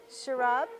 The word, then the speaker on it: Sharab: So, Sharab, is that how you say it? Yes, correct.